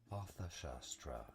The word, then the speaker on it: Shastra: Shastra is how it is said in English. Shastra.